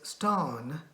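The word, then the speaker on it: स्थान: Town, Sthan, pronounced as stan, minus yes makes it town.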